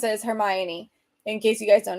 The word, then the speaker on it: Hermione: uh yeah so the way that you actually pronounce it is Hermione in case you guys don't know it's it's